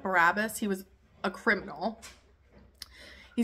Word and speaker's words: Barabbas: Because I will release this one man, a murderer, whose name was Barabbas, I think is how you say it. Barabbas.